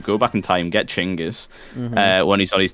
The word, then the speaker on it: Genghis: actual pronunciation is not genis it's chingis Khan not happen what what we got taught was wrong is not genas Khan he chingus no way the pronunciation of Mongolian is chingis he's chingus KH go